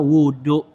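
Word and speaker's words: وضوء: nah itu nama airnya Nah ya kalau kita Waduk dengan bacanya domba wauu kita ya Ismun itu satu nama bagi perbuatan kerjaan alladzihi maksusahin ya muktatihan winiyatin kita ya jadi bacanya dengan waunya Doma wudhu gitu Itu nama suatu perbuatan yang ya dia itu menggunakan air pada anggota yang khusus yang diawali dengan niat ya itu bacanya wudhu kalau Waduk itu buat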